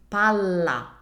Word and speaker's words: palla: The first one is pala, more relaxed. The second one is palla. I emphasize it more and I keep the L sound for longer.